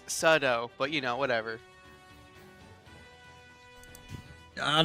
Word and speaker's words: sudo: yeah by the way it's not pronounced pseudo it's sudo but you know whatever